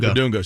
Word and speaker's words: Bidunga: Bidunga.